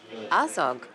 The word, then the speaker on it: Azog: And what about Azog?